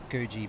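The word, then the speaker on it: Coogee: and further south to kuji beach it's spelled Koji but they say it yeah I had a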